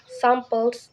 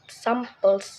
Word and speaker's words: samples: on the first syllable number one example is the samples here the first s syllable Su is a stress and the second syllable pulse is not this gives us samples not samples number two is cartoon